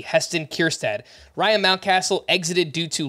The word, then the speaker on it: Kjerstad: which one is it Heston kierstad and if you're trying to figure out how to spell it you're not alone that's k j e r s t a d Heston kirstad Ryan mountcastle exited due